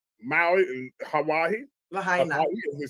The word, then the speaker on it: Lahaina: In Lahaina, Maui, in Hawaii. Lahaina, as they say.